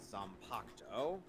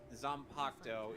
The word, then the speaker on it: Zanpakuto: Reaper wields, known as Zanpakuto. Oh, of course they don't pronounce the U in the name Zanpakuto.